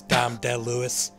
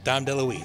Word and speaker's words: Dom DeLuise: de louise's family for the pronunciation of his name uh as dom de lewis so we're sorry about it oh yeah sorry lewis not don dale louise but yeah great interview no dom deluise super nice review and